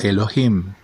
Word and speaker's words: Elohim: Por lo tanto, por tradición, cuando se escribe Yud Hei Wav Hei al lado de Adonai, se pronuncia como Elohim, para evitar repetir este título dos veces.